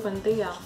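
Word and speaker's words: Buendía: José Arcadio Buendia.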